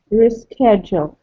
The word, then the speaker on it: reschedule: It has 4 syllables also, and the stress is on the second syllable. Three? Reschedule. Maybe three syllables. Re, ske, and do. Do. Good. There are 3 syllables, Do. but you're correct. It is the second Okay. syllable that is stressed.